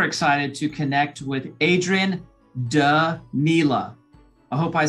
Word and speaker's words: Danila: i am super excited to connect with adrian da nila i hope i said that right adrian did